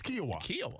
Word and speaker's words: Kiawah: shake every day quinoa so it sounds like quinoa but but it's kiawah okay it's good quinoa